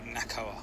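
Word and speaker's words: NACOA: Yeah, I believe it's just um it's just pronounced Nakoa.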